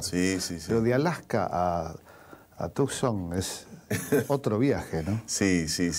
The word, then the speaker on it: Tucson: Se pronuncia en inglés Tucson. Tucson. Es como una S, sí.